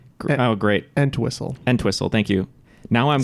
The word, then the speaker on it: Entwistle: Tommy or something else, but no, that's Peter Elswissel.